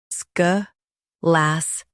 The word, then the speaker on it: scholastic: Scholastic. Now read the syllables shown on the screen naturally. Sk. Las. Tick. Scholastic. Stress las and keep sk light.